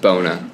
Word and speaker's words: Buona: So don't phonetically just pretend there's no U after the B. Just Bona. just Straight up. Bona.